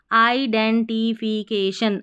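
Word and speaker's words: identification: सी ए के टी आई ओ एन शन आइडेंटिफिकेशन आइडेंटिफिकेशन आइडेंटिफिकेशन number fourth पर आ जाइए नंबर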